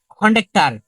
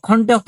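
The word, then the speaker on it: খণ্ড-ত: কি অন্তস্থ এটা কি অন্তস্থ আমরা বলি কি খন্ডার আসলে কি না এটা কি হবে খন্ডত এটা কি খন্ডত অক্ষ বলি আমরা কি অনুষ্কারটা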